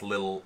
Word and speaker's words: Lil: You can find me anywhere under the handler Little. Yeah, and that's spelled how it sounds, Lil L-I-L, like Lil L-I-L. Yeah. For anybody who's hearing this as little, it's Lil.